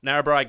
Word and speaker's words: Narrabri: So tell us about what's happening with this, with the how am I saying it right? Narrabri gas project. Yeah.